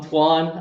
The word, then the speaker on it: Toine: Over here with it's Toine, right? That's how you pronounce it, or is there? Toine.